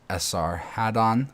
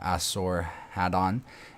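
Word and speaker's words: Esarhaddon: also called sullum assaradan which is indifferently pronounced Sr Haddon or asor had on is called asinafar by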